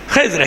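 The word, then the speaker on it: خضر: नाम भी आ गया खिज्र अल सलाम और खिजर खिजर लोग कहते हैं एक बार कहीं अ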